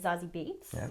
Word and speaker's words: Zazie Beetz: Played by Zazie Beetz, I believe is how you say her name.